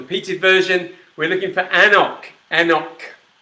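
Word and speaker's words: anCnoc: We're looking for Anok. Anok. Or, if you want to pronounce it phonetically, we're talking about Anknock, which is not, of course, how you pronounce it.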